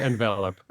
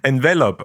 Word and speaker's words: Envelop: the only one uh we say envelop envelop okay well thank you like to the verb to be enveloped that honestly that makes